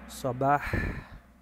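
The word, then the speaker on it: صباح: Eso se dice sabah.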